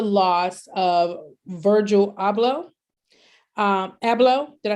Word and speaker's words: Abloh: loss with the loss of virgil abloh um abello did i say it right abloh yes and um i'll be honest well first of all he he died at the age of 41.